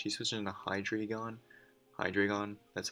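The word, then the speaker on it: Hydreigon: going to switch he's switching the hydra gone hi dragon that's how he's pronounced that uh i'm gonna i know he's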